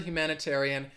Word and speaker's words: humanitarian: syllable me six syllables the word humanitarian has six syllables uh i think some